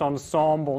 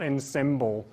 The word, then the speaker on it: ensemble: concept of ensemble English because this is a French word we pronounce the ease as if they were O's it's pronounced ensemble not am NOT in symbol so there's this method